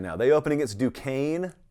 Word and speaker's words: Duquesne: now they open against duquesne which some people still try to pronounce do kezna according to sources close